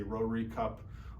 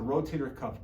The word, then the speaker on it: rotator cuff: People mispronounce it or misunderstand it. They say rotary cup or any other sort of variation of that. But really what the rotator cuff does, it holds the